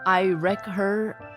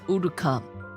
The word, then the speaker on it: Uruka: I keep saying your name wrong because I say I wreck her like Wreck-It Ralph. My name is Uruka.